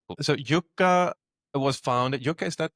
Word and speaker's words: Yukka: there's a Finnish name, how you pronounce it, Yukka. But we say Yukka. Yukka in German.